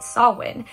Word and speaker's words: Samhain: So Halloween actually has its roots in the ancient Celtic festival pronounced Samhain, which actually marks the beginning of the harvest season at the end of the summer.